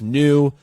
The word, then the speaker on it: NUS: yeah and it's called new right that's the company and our latest partner we're so I know so hyped and it's spelled n-u-s pronounced new uh the Instagram is